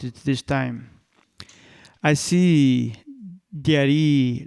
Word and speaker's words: Diary: I specified, yes, the spelling is the same, but the pronunciation is different. Diary. I articulated more slowly and clearly with my mouth. Oh, I got it. Your name is pronounced like dairy milk. By this point, I lost my temper. No, it does not pronounce like milk products.